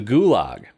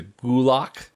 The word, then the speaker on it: Gulag: it wrong because it's pronounced closer to Gulag with more of a GK combination sound.